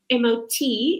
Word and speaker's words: mot: Now, just very quickly, MOT is pronounced MOT because it's actually a Norwegian word that means courage.